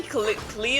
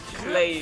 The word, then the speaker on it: Klee: Probably Blaze in the light, because Klee is pronounced Klee and not Clay, just because I'm freaking German.